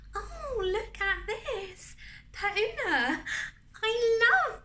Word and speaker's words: Per Una: oh look at this per una i love pertuna she pronounced it all foreign she's actually french or